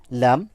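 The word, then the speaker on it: لام: যে তালু যে অংশটা, সেই স্থান থেকে লেগে উচ্চারিত হবে লাম, লাম, লাম, লাম, এভাবে উচ্চারণ করব।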